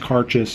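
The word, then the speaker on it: Cairdeas: Lefroy uh it's their cartas blend it's actually pronounced cartas it looks like cardinus but that's gaic for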